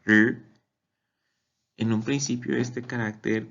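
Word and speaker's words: 日: Por ejemplo, el carácter para sol, que en chino se pronuncia R.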